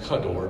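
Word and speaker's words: כדור: And actually, when you look at it, this is technical, but it's actually pronounced kador because the ka in Hebrew means like.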